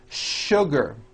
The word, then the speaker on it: sugar: is that there are some words in English that are written with the letter S but are pronounced with the SH sound words like sugar and sure and to